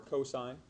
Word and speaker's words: cosine: Cos is pronounced and stands for cosine.